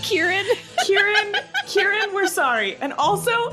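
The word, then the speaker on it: Ciarán: We've been saying that the ass butthole white that is Syrian Hines. Sorry. His name is actually pronounced Kieran.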